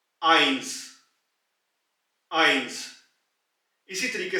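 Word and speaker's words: eins: दूसरा है 1, आइंस, आइंस।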